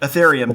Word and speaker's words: Ethereum: I always mispronounce that last currency, but Ethereum, there you go.